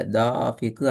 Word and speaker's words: دافق: தாஃபிக்கு அல்லது தாஃபிக் ரெண்டு மாதிரியும் பிழை.